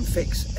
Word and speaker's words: Fix: they see a u a u in greek is pronounced like an i and the chs is pronounced like an x so it became fix f i x and